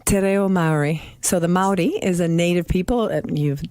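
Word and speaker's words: Māori: So the Maori is a native people. You spell Maori, and it's pronounced Maori.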